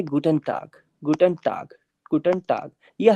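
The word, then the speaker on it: Guten Tag: दिया लेकिन हल्का सा का वाला साउंड लेगा गुटन टाक टाक पूरा प्रॉपर का भी नहीं लेगा कि आपको गुटन टाक टाक नहीं करना है का और ग के बीच में रहेगा हल्का सा ये ठीक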